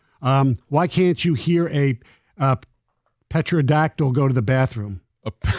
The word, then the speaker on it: pterodactyl: Oh, why can't you hear a pterodactyl go to the bathroom? A pterodactyl. Pterodactyl. It's a pterodactyl. Well, yes. Is that the joke? Thank you. That's the joke. Because the P is silent.